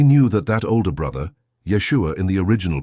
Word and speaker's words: Yeshua: They knew that that older brother Yeshua in the original pronunciation or Jesus in the Greek transliteration was treated a little differently by the parents.